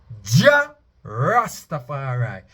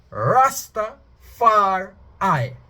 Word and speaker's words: Rastafari: correct there's no correction it's ja rastafari if you wanna broke it looking at the three syllables rus top far eye far eye rasta far eye it is ionized he